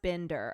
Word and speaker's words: Binder: It is pronounced Binder.